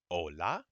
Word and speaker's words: hola: here's a big one never never pronounce an H in Spanish okay if you see it no it's there but you don't pronounce it so this word is